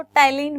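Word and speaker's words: ptyalin: Clear, P silent है, इसको टाइलिन बोलते हैं।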